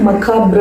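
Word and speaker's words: macabre: மகாப்ர அப்படின்னா தமிழில் என்ன அர்த்தம்னா கோரமான ஒரு விஷயத்தை விவரிக்கிறதுக்கு மகாப்ர அப்படின்ற வார்த்தையை இந்த ஷார்ட் ஸ்டோரியில யூஸ் பண்ணியிருக்காங்க. எப்படி ப்ரொனவுன்ஸ் பண்ணணும்னா மகாப்ர, மகாப்ர.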